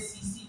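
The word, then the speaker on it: tsetse: द्विकोष्ठीय है, प्राथमिक तो मनुष्य है और दूसरा क्या है, एक मक्खी है, उसको कहते हैं सीसी फ्लाई। सीसी की spelling T silent, सीसी फ्लाई।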